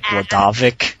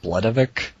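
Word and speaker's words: Bledavik: You're like, yeah, it sounds like you said Bladovic instead of Bledovic.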